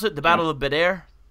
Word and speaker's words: Badr: This is after, how do you pronounce it? The Battle of Badr? Badr.